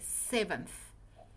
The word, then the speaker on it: seventh: So, you say seventh. Okay. Seventh. That's right. Seventh. uh fifth um seventh. Okay. So here your your your your th in the end is not silent. You have to inunciate. Okay.